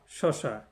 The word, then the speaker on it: স্বসা: একটা ফল বিশেষ আবার শসা এটা হচ্ছে ভগিনী হুম তাহলে এক শসা হচ্ছে ফল বিশেষ আরেক শসা হচ্ছে ভগিনী এখানে দন্ত শেয়ে বলা রয়েছে হ্যাঁ শুধু বানানটা আলাদা উচ্চারণ কিন্তু একই সকল মানে সমস্ত সকল